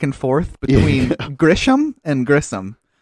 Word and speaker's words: Grissom: And then also, both of us were switching back and forth between Grisham and Grissom. It's Carl Grissom. Grissom. Not Grisham.